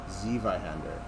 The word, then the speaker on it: Zweihander: Zweihander? I struggle enough with English. Flameburge. Z versus I. ZI is German for two. W is a V sound. Oh, so it's a German word. Okay. So Zweihander.